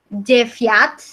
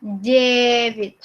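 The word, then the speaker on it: девять: Nah, ini bacanya bukan jeviat, bukan. Ini bacanya jevit, jevit.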